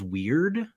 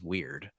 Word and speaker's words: Wyrd: Hellboy: World of Weird, I think is how you would pronounce WYRD.